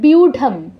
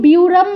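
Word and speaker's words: ব্যূঢাম: হচ্ছে ঢ এর মত যেমন গীতার প্রথম অধ্যায় আছে বিউঢাম এটাকে কেউ বিউরাম বলবেন না এটা কিন্তু আপনার ঢয়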